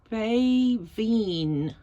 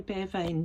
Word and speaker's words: Beaveayn: those dashy slanty things, BEAVEAYN, pronounced, I think, Baveen. I used to say Baveen, but I was corrected by a very helpful Manx teacher.